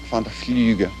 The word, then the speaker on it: Vander Fluga: Fluga. Vander Fluga. Rhymes with tulips, which coincidentally is what I sell.